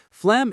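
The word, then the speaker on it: phlegm: Flem is a very strange word. The ph sounds like f and the g is silent.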